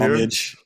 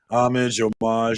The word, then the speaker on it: homage: I think homage and homage are both correct ways to pronounce it.